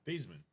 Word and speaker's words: Thiesman: So his parents, their last name is not Theismann, it's Thiesman. Thiesman.